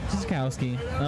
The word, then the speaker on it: Sutkowski: Sutkowski.